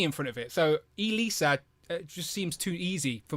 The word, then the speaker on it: Elisa: We've got I always say her name wrong. I want to say Elisa. Is it Elisa? That's right. Yeah. Elisa and Xanatos.